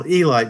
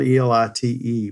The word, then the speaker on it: Elite: team called the Nashville Elite Giants. It's spelled E-L-I-T-E, but it's pronounced not elite, but Elite Giants.